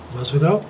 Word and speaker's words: Masvidal: Masvidal?